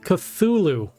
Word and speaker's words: Cthulhu: be able to deal damage it's pr it's pronounced cthulhu okay let us give some respect to that